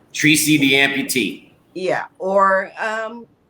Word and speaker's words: AmpuTea: to do the listening is spelled ampu space t-e-a so it's like you're spilling the T the information there you